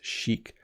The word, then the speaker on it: chic: So this is an interesting one because when you look at the word, you might not think that's how you pronounce it, but the word is chic. So chic, I think, goes beyond just what you're wearing.